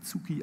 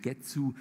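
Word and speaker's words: 月: die völlig anders ist also Schriftzeichen für Mond wird in Japanisch sozusagen zsuki ausgesprochen auf Chinesisch getzu und wenn ich dann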